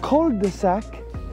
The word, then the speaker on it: cul-de-sac: But cul-de-sac in French, I use that in England.